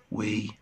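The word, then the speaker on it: weigh: way جي اتش هنا لا تنطق.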